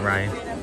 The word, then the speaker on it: Ryan: saying my name but they're saying Brian not Ryan that's what that's one